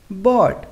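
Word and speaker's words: bought: Sai mains आ भरना यहां भी वर्ड के अंत में जी ह ए रहा है तो ये क्या रहेगा साइलेंट बोट मेंस खरीदना यहां पर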